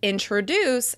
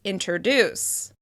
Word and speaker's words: introduce: You may also hear people say "introduce" as "interduce."